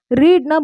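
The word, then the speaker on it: read: ரீட்னா book படிக்கிறது, news paper கதை book படிக்கிறது தான் ரீட். ரீட் ரெட் ரெட், ரெட்டுன்னு தான் ப்ரொனவுன்ஸ் பண்ணணும்.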